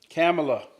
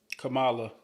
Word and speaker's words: Kamala: it's very serious um how to pronounce the vice president's name camela oh that's what it is Kamala Kamala C uh I